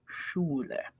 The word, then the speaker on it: Schule: Okay, school in German, that SCH is sh. Okay, in English, it's sk, like school or schedule or, what's another example? Can't think of any. Okay, anyway, in German, it's always sh. You always pronounce this SCH sh.